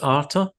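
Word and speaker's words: artha: So it's the first goal, which is pronounced arta.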